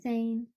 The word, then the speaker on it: Zayn: Zane. So it's spelled Zayn.